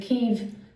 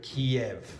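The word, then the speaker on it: Kyiv: to show solidarity with Keev. Okay. With Kiev. Okay. So, it's pronounced Kev. Sometimes you will hear Kiev. Okay. Now, Kiev sounds more Russian. So, that's why nowadays you hear Keev.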